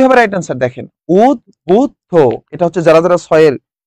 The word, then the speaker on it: উদ্বুদ্ধ: Right answer দেখেন, উদ্বুদ্ধ।